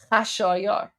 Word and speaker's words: Khashayar: Xerxes in Persian because Xerxes is actually pronounced Khashayar. I have no idea how or why the Greeks uh got Xerxes from Khashayar, but there you go.